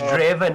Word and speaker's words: Draven: can only imagine what Dwaven's going to come up with. Oh, it's Draven, not Dwaven. Oh my god, what am I saying?